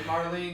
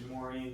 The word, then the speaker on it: Maureen: I'm like, hey Marlene, you keep forgetting to add me back. She's gonna love that you pronounce her name wrong to this day still. Is it Maureen? It's Maureen.